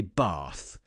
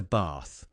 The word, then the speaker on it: bath: southern English vowels we would say bath like that and they've turned that into bath people who are clearly Southerners are basically speaking a form of modern day RP and they have this Northern pronunciation of words like bath the thing is the